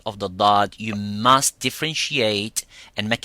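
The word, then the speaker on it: ضاد: So that's what I was saying, that the letter dad will put slightly pressure and releases so the air can come from the back and goes to the front and produce that sound of dad.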